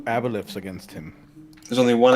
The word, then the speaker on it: aboleth: I don't know, he's forgotten how to say aboleth. I said aboleth. You said oboleth. With an accent.